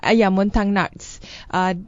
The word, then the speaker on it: Montagnards: Regarding on the Christian Montagnard, did I pronounce it correctly? Montagnards.